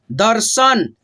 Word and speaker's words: दर्शन: क का उच्चारण, लक्ष्मण, दर्शन, स से पहले र का उच्चारण, यानी कि रेफ की